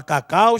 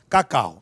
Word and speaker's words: cacau: Agora, o U da palavra cacau, gente, está sendo fracamente pronunciado. Daí, esse U ser semivogal. Consequentemente, 2 vogais, 2 sílabas na palavra cacau, tá bom?